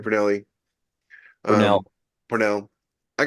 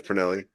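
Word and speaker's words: Pournelle: see the name but you never hear it pronounced so in my head it was always pernelli but yeah Pernell I got to meet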